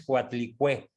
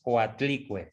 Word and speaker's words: Coatlicue: etcétera la coalique tú la pusiste con acento en la r Ricardo pero no es coatlicué Según yo es coatlicue Ajá bien dice Lili